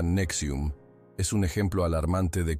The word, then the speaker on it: NXIVM: El caso de NXIVM, se pronuncia Nexium, es un ejemplo alarmante de cómo líderes carismáticos pueden manipular mentes y llevar a sus seguidores por caminos de oscuridad.